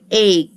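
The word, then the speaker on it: ache: يبقى استمك استمك استمك الكلمه الثانيه برض السي اتش فيها هننطقها برض كه تاني فهقول ايج والاي في الاخر ما بننطقهاش يبقى استمك ايج يعني معده ايك يعني وجع او الم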